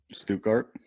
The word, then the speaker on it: Stuttgart: to the second you hunter stop can you pronounce stuttgart again stu cart okay sounds very good excuse me yes yes